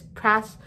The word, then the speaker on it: prosopagnosia: But anyways, turns out I've been pronouncing prosopagnosia wrong. Prosopagnosia. So it's not prosopagnosia or whatever I was saying before. It's prosopagnosia.